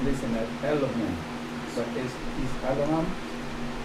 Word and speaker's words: Elohim: But is Elohim? In English, you're going to see it as Elohim. In the Hebrew, it's going to be pronounced Alahayim.